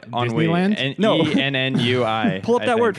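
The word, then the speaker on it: ennui: wheel in and no NNU i pull up that word right what's your word honoree only on we heard them and you i it does it it's spelled differently than it sounds so helping them have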